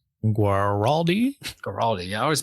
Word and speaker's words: Guaraldi: Vince, Vince Gilliardi. Guaraldi. Yeah, I always mispronounce.